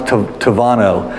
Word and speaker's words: Tabano: But in Spanish, when you pronounce the B, it comes out as a V sound. So it's spelled Tabano, but it sounds Tavano.